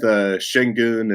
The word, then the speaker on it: Şengün: But I struggle with Şengün and Şaric. My brain just doesn't want to make an S sound like an SH.